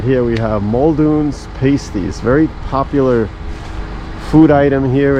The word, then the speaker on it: pastie: So, we discovered the proper pronunciation is pasti.